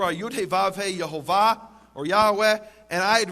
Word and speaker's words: Yehovah: In fact, it says there in the Hebrew, Yud He Vav He, which I pronounce as Yehovah, others pronounce as Yahweh or Yahweh, and I won't go now into the reasons for those differences.